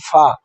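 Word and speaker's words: ف: তারপরে আছে ফা। এবার হচ্ছে ফা।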